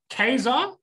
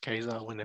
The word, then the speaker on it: Ka-Zar: you do you guys is it keizer or kazur okay i say casey there's a hyphen in the middle so you're there on your own that's saying it wrong unless you want to say it really emphatically like gaza a little bit more jungly to me i just go with the cartoon it's just keizer yeah that's generally if